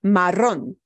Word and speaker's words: marrón: syllable gets a harder punch with your voice. So it is marrón, marrón, not marrón. If I didn't write an accent mark on that word, somebody would read it as marrón. The way we pronounce the word breaks the rule of stress for words. So we know we have to punch the end.